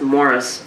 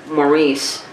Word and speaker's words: Maurice: And I think, because he's Canadian, it's probably pronounced Morris, but Maurice is how I pronounce it, being American.